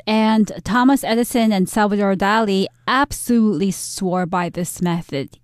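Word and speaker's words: Dalí: is a spanish artist in spanish his name would be pronounced dali these two people swear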